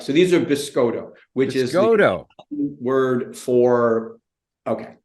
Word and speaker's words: Biscotto: so difficult so it's biscoto so like you know bis like an Italian cookie right right so these are biscoto which Isis word for